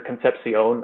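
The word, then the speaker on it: Concepción: I really do think he can be a differencemaker for&m and Craver and Conception, the or Conception, I think is how you say his last name, the two receivers that have, I really like the two of them.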